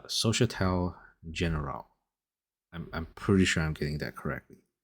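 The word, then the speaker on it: Société Générale: Honestly, I just made this video so I can say the name because I figured out how to pronounce it. It's Societal Generale.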